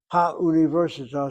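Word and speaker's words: הָאוּנִיבֶרְסִיטָה: Ha universita sounds the same whether it's a kamatz or a patach under hey.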